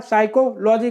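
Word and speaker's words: psychology: मानव व्यवहार में भावना का वैज्ञानिक अध्ययन क्या कहलाता है, साइकोलॉजी क्या कहलाता है, साइकोलॉजी कहलाता है। पी इसमें क्या है, साइलेंट है।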